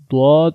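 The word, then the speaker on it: ض: Dad is read by the sides of the tongues and the root of the upper molars. So try to pronounce Dad from the side of the tongue and the roots of the upper molar. Try to pronounce it and say Dad, Dad.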